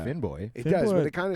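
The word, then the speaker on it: Finnbogi: So, uh, my my full name is Finn Boy, but can't put that on a piece of paper.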